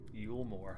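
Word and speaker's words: Eulmore: open arms and you more itself lies Beyond you more that's how you say it this meanwhile is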